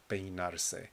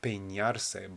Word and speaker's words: peinarse: That is the verb peinarse. And be careful that you don't pronounce this N over here like an ñ. It's not peinarse, but peinarse. Peinarse.